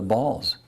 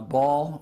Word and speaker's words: Baal: You have abandoned the Lord's commands and followed after the Baals. Now, Baal or Baal, depending on how you choose to pronounce it, was the pagan religion of Jezebel.